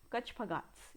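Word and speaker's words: कच्छपघात: लेकिन इनकी जो करेक्ट प्रोनाउंसिएशन है दैट इज कछपघातों को। कछपघात्स इन्हें बोला जाता है, कछपघात्स।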